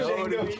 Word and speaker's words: Django: Django can't be D Because the D is silent.